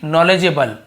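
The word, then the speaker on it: knowledgeable: very नॉलेजेबल, तो के silent होता है, नॉलेज यहाँ पे एल भी साइलेंट होता है, ठीक है, सॉरी यहाँ पे डी साइलेंट होता है, नॉलेज, तो डज ऐसे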